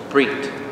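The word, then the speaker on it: ברית: Brit.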